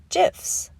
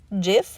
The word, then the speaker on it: gif: So today I'm going to show you how to make gifs. It actually is pronounced gif, not gif. This according to the person who invented this thing.